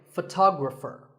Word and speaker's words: photographer: syllable ography so photography in the same way photographer word number 44 is jewelry it's spelled differently in American and British English but